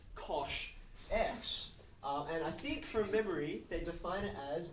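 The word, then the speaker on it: cosh: of functions believe it or not this is pronounced Kos X and I think from memory they Define it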